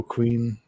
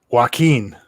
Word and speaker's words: Joaquin: old when he died wow and yeah joe queen rafael phoenix does that have a pronunciation key for his name uh it doesn't say well let's let's look it up joaquin joaquin phoenix joaquin okay joaquin nice let's see